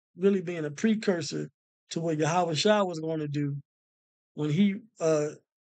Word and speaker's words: Yahawashi: another layer of um of getting the correct pronunciation so I pray this was edifying the name of the savior is yahawashi the name of his father is yahwah uh